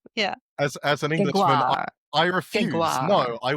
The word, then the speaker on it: Gregoire: Say it right. You got I to know, get some well- of the French Canadian going, you know? Yeah. Gregoire. Yeah. As an Englishman, Gregoire.